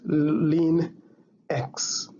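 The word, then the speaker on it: ln: is l and x this one is pronounced as lean x to be able to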